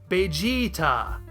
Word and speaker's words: Bejiita: The Japanese language does not have a V sound, so their approximation of the English word vegetable is Vegetabaru. Toriyama took that, sliced off the end of it, and extended the middle vowel sound into a long E.